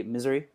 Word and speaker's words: Missouri: you're i'm gonna say missouri but it's missouri over in missouri right it depends on what part of missouri uh i say i say misery like misery but i don't mean